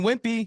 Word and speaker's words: Wimpey: Ryan Wimpy. Ryan Wimpy of Tip Top Canine. How do you spell it?